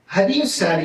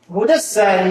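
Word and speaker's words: هدى الساري: പലരും വായിക്കാറുള്ളത് എന്താണ്? ഹദിയുസ്സാരി എന്നാണ്. ഹദിയുസ്സാരി മുഖദ്ദിമത്ത് ഫത്ഹുൽ ബാരി. ഫത്ഹുൽ ബാരിയുടെ മുഖദ്ദിമയായ ആമുഖമായ ഹദിയുസ്സാരി. യഥാർത്ഥത്തിൽ ഇതിന്റെ യഥാർത്ഥ ഉച്ചാരണ രീതി ഹുദസ്സാരി എന്നാണ്.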